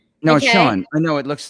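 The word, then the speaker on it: Sian: guest uh concerning you today a girl named seon no sean i know it looks like it's s-i-a-n but it's pronounced sean michelle and she's just an amazing person for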